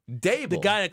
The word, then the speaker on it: Daboll: How do you say his name? Dable. Brian Daboll. Daboll.